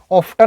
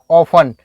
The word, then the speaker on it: often: इसको आप ऑफ्टन नहीं पढ़ना है, ऑफ्टन नहीं, ऑफन, क्या है, टी साइलेंट है।